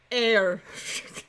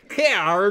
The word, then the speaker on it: heir: not sure about that it is pronounced heir he our hair to the throne that